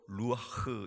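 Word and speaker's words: רוח: b 를 풀어 넣으신 2 그 생기가 히브리어로 루아흐 의미다 누가 루한 한번 따라해 볼까요 룩 아흑 여러분과 제가 어떻게 발음 하더라도 그 밥은 다 틀린 것으로 이해할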